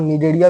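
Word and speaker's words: Cnidaria: सी silent होता है। इसलिए हम इसको निडेरिया पढ़ रहे हैं। इसी तरह यहां पर यहां भी सी साइलेंट है। इसलिए इसको हम लोग नीडोब्लास्ट बोलते हैं।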